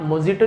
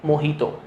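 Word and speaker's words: Mojito: तो वहाँ पे आप मोजिटो नहीं बोलेंगे, क्या बोलेंगे, मोहितो, ठीक है। वर्जिन मोहितो, मोहितो बोला जाता है।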